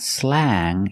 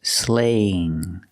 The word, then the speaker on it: slang: this word is slang we see Ang so we use the long a sound it's not slang it's slaying a sling slaying is